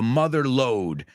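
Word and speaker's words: mother lode: it's not it's the mother load so that word is l o d e the second word I've heard people say downlo load load okay it rhymes with Road nobody says everybody says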